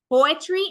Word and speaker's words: poetry: Poetry has 3 syllables, poetry, right? We have 1 that is stressed at the beginning and 2 that are non-stressed.